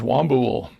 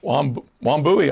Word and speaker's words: Wambui: Name is Wambul, which is an African. Wambui, I'm sorry, that's an I on the end. I can't focus anymore, people. It's a Wambui, which sounds like a kind of a party drink.